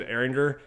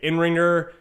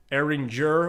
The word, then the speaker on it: Eringer: because i've got so my last name is eringer and people say in ringer um ellinger erin jur which is actually like the closest and i've gotten the